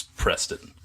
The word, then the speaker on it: Preston: With me as always is a man whose name rhymes with Charlton Heston. You guessed it, it's Preston.